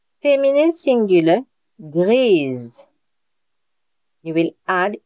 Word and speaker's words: grise: So, for gray and purple, you will see that the masculine and the feminine, the pronunciation is not the same.